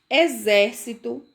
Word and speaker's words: exército: Exame, exato, exército e exercício. E exemplo, certo? Então, todas essas palavrinhas aí são escritas com X e tem o som de Z na sua pronúncia.